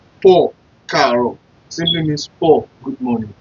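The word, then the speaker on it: Káàárọ̀: If you use it this way, like Poor, Karo, simply means poor, good morning. I believe you understand what I'm trying to do here. So the word Karo is just 5 letter words.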